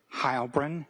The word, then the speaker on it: Heilbrun: My name is Hybrin. That's spelled.